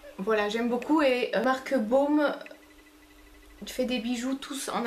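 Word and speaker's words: Bohm: Et j'ai une autre paire de boucles d'oreilles de la marque Baume, ça s'écrit B-O-H-M.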